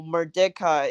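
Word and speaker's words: Merdeka: public Malaysian day so merdeca is on August 30th or madeka is that how you say it yeah mer deca and what is that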